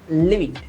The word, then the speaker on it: livid: pronunciation tip. live it කියන වචනය උච්චාරණය කරද්දී මතක තියාගන්න ඒක උච්චාරණය වෙන්නේ short e sound එක. live it.